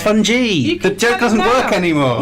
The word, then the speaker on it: fungi: If there's one thing I've learned from today, it's that it's actually pronounced fungi.